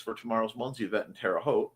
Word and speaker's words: Terre Haute: I need to charge my Fitbit and USB bricks for tomorrow's Munzie event in Terre Haute. Rhymes with vote.